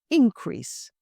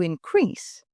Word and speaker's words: increase: present the quarterly report let's look at the second word if we look at it as a noun it's increase we've seen a study increase in profits whereas if we look at it as a verb it is to increase we need to increase our Revenue by 10% and the third word